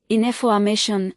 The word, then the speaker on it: information: Information, stress on ma.